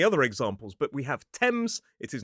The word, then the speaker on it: Thames: Well, sometimes in certain names, like places or people, that th is simply pronounced as a sound, the same sound we see in a word like talk. So, for example, in the river Thames, the country Thailand, or the name Thomas.